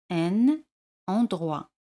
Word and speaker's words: un endroit: Un lugar se dice un endroit. Y hacemos la liaison. Un endroit.